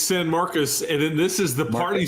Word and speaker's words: San Marcos: do it correct him level how do you pronounce it it's San Marcus and this is the party school Bowl that's